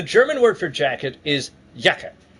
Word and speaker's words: Jacke: word for jacket is yaka J is pronounced with a Y sound and so it's spelled